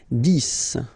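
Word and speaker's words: dix: 10. Okay, so remember, final X here is pronounced like S.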